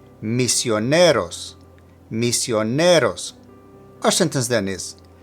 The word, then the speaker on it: misioneros: And since this is the case, both misioneros and los agree with it in gender and number, as you see with the ending OS. Now, for pronunciation, make sure to emphasize the NE. Misioneros.